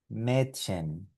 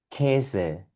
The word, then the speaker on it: Mädchen: Como te dije previamente, si tú esto lo quieres pronunciar como E, ese es un sonido aproximado y muy parecido y está bien. Hagámoslo así antes de ir con la pronunciación exacta. Esta palabra, por lo tanto, con esta A umlaut aquí, aquí, sonaría Mädchen, Mädchen. Esta palabra con esta A umlaut por aquí sonaría Käse, Käse.